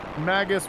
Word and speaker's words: Magus: me with few regrets magus rhymes with the word i don't like don't like it actually